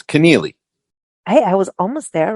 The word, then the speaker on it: Keneally: I never pronounce anyone's names correctly or any place's names. So everybody, just blame me. Keneally? It's Keneally.